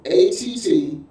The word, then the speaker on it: attud: And the every word for leaders that was used in this text was attud, A-T-T-U-D. A-T-T, Alpha, Tango, Uniform, Delta. A-T-T-U-D, which is pronounced attud.